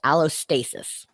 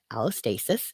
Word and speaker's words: allostasis: It's called allostasis, which is a fancy word. It's spelled ALOSTASIS, allostasis, which is that process of your brain predicting